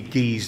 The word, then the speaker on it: guise: It's spelt guys, and I pronounce it geese or guys, but traditionally it should be geese dancing.